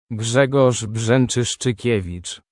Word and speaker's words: Grzegorz Brzęczyszczykiewicz: Grzegorz Brzęczyszczykiewicz.